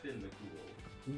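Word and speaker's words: Fionn Mac Cumhaill: It's pronounced Finn McCool.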